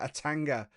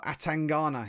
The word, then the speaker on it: Atangana: Boris Baraga Atanga or Atangana he says actually pronouncing it properly taking on Journey Gregory from Brazil.